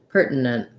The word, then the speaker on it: pertinent: your point is that i could either do pertinent pertinent which would be two syllables i think i do more like pert where i make this syllabic n in the middle kind of long if